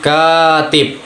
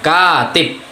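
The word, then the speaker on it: كاتب: terjadi disebut harokah panjang, seperti misalkan pada tulisan katib, jadi bisa ada huruf K, kemudian ada huruf alif. Nah itu tuh penekanannya tuh kalau di huruf vokal teman-teman, jadi bacanya panjang, katib, yang artinya penulis.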